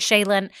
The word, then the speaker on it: Chalynn: And this listener left a wonderful review, and I'm scared that I'm pronouncing the name wrong. Shaylin D. Is that right? Is it Shaylin? It's CHALYNN.